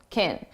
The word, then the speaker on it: can: When can is the auxiliary verb, so it's not the main verb, we reduce this to kin, and it's very unstressed sound. I don't know if we can trust, if we can trust. And notice you hear trust more because it's the main verb, and can, which sounds like kin, is very short, can trust, can trust.